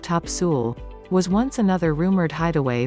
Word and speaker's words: Topsail: onslow county the 26 mile long top sail pronounced top sewell was once another rumored hideaway for the pirate